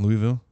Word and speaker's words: Louisville: How do you pronounce that? Louisville. It's not Louisville?